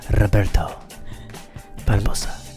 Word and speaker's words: Roberto Barbosa: That's correct pronunciation, is it not? Yes, gotta make sure you roll the R's. Roberto Barbosa.